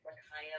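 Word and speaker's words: Ma'Khia: face was beautiful in this situation today with makaya bryant that's how you say her name was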